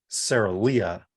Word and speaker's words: Sarolea: Actual pronunciation, Sarolea.